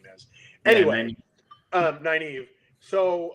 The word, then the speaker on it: Nynaeve: Nynaeve. Nynaeve? Yeah, Nynaeve. I keep saying Nye as in like sigh, like Nynaeve. Nynaeve, and I'm like the wisdom, whatever her name is. Anyway, Nynaeve.